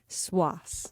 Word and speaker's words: Cwass: Swas. Swas.